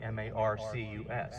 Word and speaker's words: Marcus: this property, married Mary, he spelled her name Marcus, phonetically, M-A-R-C-U-S. So I think it's a safe assumption that back in 1740s, the pronunciation was Marcus.